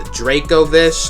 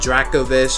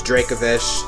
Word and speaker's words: Dracovish: episode while only arctiso in dracovish yes it's pronounced the dracovish not dracovish as a lot of people say it's dracovish same thing with draco's old it's pronounced dracazolt